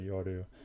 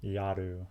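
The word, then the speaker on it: やる: 緒に宿題をやろ I said it wrong. I said yoru. Yaru.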